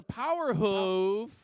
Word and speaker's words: Power Hoof: Let's hear it for Power Hoof. Power Hoof! Let's pronounce it hoof, like boo.